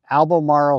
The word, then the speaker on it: Albemarle: competition which was the Alam Marl sound I think I'm saying it correctly but at least that's how Ken says it but uh it's really